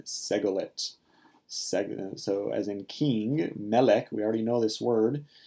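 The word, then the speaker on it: מֶלֶךְ: They have their stress on the first syllable. So the main thing that is distinctive of these nouns is that instead of stressing their last syllable, they're stressed on their first syllable.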